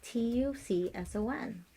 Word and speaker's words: Tucson: practices acupuncture at Cottonwood in Tucson or Tucson how do I pronounce that t-u-c-s-o-n I want to say Tucson it is Tucson um a rehabilitation center